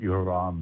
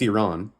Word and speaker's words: Iran: I'll pronounce it Iran next time, and I'll say. Yeah, there you go. That's what the country's called. It's Iran.